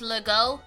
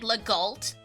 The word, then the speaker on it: Legault: I've noticed with French, what really messes up with people is the AU sound. Because it's like an O sound. But for example, like, so there's like the surnames Legault, Relo. People end up pronouncing the T and the H, so you get Legault and Reloult, and it's like, no! It's an O!